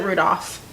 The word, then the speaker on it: Rudolph: I've always said it Rudolph. I've never pronounced the L in it.